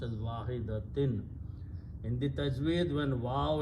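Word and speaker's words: وَاحِدَةٍ: So this will be pronounced as wahidatin. In the tajweed, when waw and noon sound come together, it becomes noon gunna idgham. So it becomes kanafsim wahidatin.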